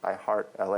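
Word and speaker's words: I❤️LA: text is small because some people say i love la some people think that la is los angeles but it's it's linear algebra it's i heart la is how we pronounce it but i guess i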